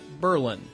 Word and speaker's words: Berlin: places in Amish Country Berlin and yes that's the right way to pronounce it Berlin once a small Berg